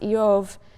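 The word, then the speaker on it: איוב: The name Job, which in Hebrew is pronounced Eov, is sort of bivalent in meaning.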